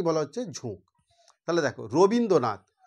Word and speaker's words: রবীন্দ্রনাথ: হচ্ছে ঝোঁক তাহলে দেখো রবীন্দ্রনাথ আমি যদি এটাকে এইভাবে বলি রো বিন দ্রো নাথ তাহলে কতগুলো ঝোঁক হলো দেখো তাহলে দেখো রো